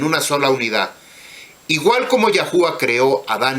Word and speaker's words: YâHuWaH: Como le dije hace un momento, usted debe darse cuenta que aquí no dice ja o ja, sino que dice jabá, terminación ah.